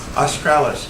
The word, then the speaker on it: australis: Some of the scientific equipment used to study the auroral astralis for Australia included, what's the right pronunciation? Australis, thank you, Dick.